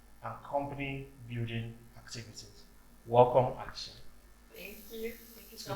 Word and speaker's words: Alessia: So what I say all the time when I'm in Nigeria running any event, my name is Alessia, no X.